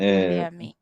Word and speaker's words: Guilherme: We say Guilherme is uh, Guilherme. something like William in English.